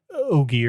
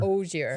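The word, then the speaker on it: Ogier: How do you say oir? Ogar or oier. Oure. Sometimes I make it hard, but it's it's very close to ogre.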